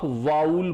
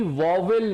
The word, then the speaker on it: vowel: मैं हमेशा से बोलता हूं कि इसका प्रोनाउंसिएशन आप वाउल बोला करें, ठीक है ना। इसको कोशिश करिए कि वॉवेल ना बोले, ठीक है। वॉवेल प्रोनाउंसिएशन ना रखें, इसको वाउल बोले, वाउल, ठीक है, ठीक है, वाउल, राइट। चलिए, तो अगर मैं बोलूं